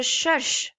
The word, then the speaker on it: cherche: Je cherche. This is called sh, r, sh. Ch together is always pronounced sh. So how will we say it? Sh, r, sh. Cherche.